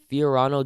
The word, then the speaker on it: Fiorano: amazing besides the Entenmann's this park also has Fiorano GT challenge that's how you pronounce it which looks like good fun they